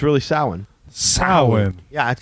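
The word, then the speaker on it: Samhain: board and it's s-a-m-h-a-i-n and Dr Loomis says Sam Hayne lord of the Dead that kind of thing you watch Ghostbusters and they say it's Sam Hayne and the pumpkin guy and he rules Halloween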